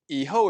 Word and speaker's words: 以后: each n and we'll now go to iho eho is how you say after in chinese and